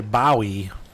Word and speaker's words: Bowie: Like Bowie. That's how we would say it. Like David Bowie. But you could also say Bowie. To me, Bowie makes the most sense, and that is how David Bowie's name is spelled.